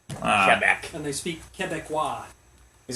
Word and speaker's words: Quebec: audio engineer welcome back I think it's pronounced Quebec Quebec really yeah not Quebec oh it sounds so much better with the alliteration in there no it's French though kebec and they speak keca